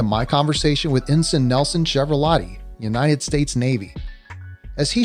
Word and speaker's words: Chiaravallotti: let's get started by first of all nelson chevrolet did i pronounce that last name correctly yes you did